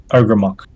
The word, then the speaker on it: Ogrémoch: Going to post that, and then how it's pronounced. Oh, Well, okay. Ogre. yeah, Ogrémoch.